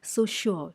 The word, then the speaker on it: suture: theory now please understand it's pronounced as so sure sure sound is coming now so sure theory the